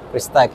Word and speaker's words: Prestige: Dari Prestige atau Prestige nih bacanya. Prestige ya. Prestige.